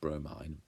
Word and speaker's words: bromine: That looks like it should be pronounced bromine, but it's actually pronounced bromine, just like chlorine is pronounced like that as well.